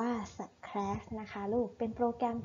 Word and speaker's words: Scratch: นะ คะ ลูก โปรแกรม สแคส อ่าน ว่า สแครช นะ คะ ลูก เป็น